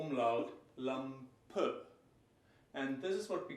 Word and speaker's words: Lampe: The word Lampe, lamp, if you listen thoroughly, Lampe, and you hear something like a weak O umlaut, Lampe.